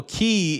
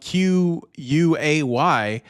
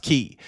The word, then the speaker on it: quay: That one's also pronounced key.